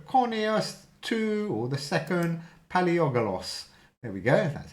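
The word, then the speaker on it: Palaiologos: it is Andrew Conyers two or the second paleogolos there we go that's how you say his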